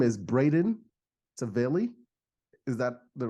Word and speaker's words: Braden Tavelli: And his name is Braden Tavelli. Is that the right pronunciation, Braden?